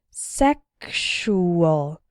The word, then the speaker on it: sexual: in the word sexual the X sounds like ksh sexual and in luxury and luxurious